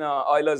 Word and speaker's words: Euler: So today we call it an Eulerian circuit in Euler's honor. And... of course, remember, it's Euler, okay?